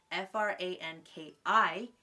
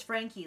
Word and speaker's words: Frankie: oh frank guy like i literally pronounced f-r-a-n-k-i frank i without registering it's frankie like frankenstein but like girl frank you know what